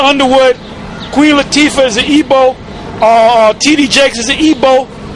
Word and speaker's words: Igbo: You can say Igbo is spelled Igbo, but you pronounce it Igbo.